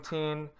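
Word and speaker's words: Týn: It's called the Tin, or T. It's spelled T-Y-N, Tin Cathedral, and it's the square that they're in is called the Old Town Square in Prague.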